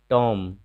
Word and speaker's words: टॉम: फिर टॉम, टॉम का मतलब होता है मकबरा। यहाँ भी देखिए बी साइलेंट है।